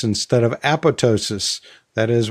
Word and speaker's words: apoptosis: And we talked about how upset some people get when you say apoptosis instead of apoptosis. That is, when you pronounce the P instead of keeping it silent like it, quote, is supposed to be pronounced.